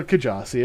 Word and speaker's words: Kjasi: be troublesome but i go with you know kajazi it's just you know i don't yes a